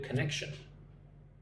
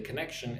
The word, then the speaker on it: connection: Look at the word connection. Cneck connection. Say it like this. C neck shun like three syllables. C neck connection. Right? You don't really have to get the T sound. You don't have to say connection.